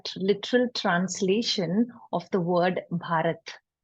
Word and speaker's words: Bharat: And Bharat is made of two syllables, which is Bha and Rat, right?